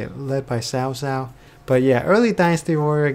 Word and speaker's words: Cao Cao: main three kingdoms way led by Cao Cao oh wait that's not how you say it led by sow sow but yeah early dynasty